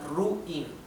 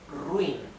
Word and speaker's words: ruin: So we cannot separate this like ruin. This is wrong, wrong. Because two weak vowels stay together. So this is ruin. One single syllable.